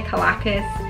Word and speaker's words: Calacas: my god collective intelligence I'd say calico some people say Caracas it's kind of like tomato tomahto so anyway so at